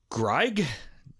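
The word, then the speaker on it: Greig: smith and baritone donald gregg it's spelled g-r-i-e-i-g so it's not it's like the opposite of grieg in german it would be greg i don't know anyway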